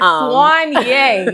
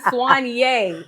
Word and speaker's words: Soigné: Oh, we're at Swany. I had to say it right because I looked it up about three, four times on Google. I pressed the little the little audio button. Swany.